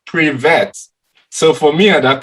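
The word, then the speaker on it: привет: know the pronunciation because it's written p-r-i-v-e-t so it's like pre-vet so for me at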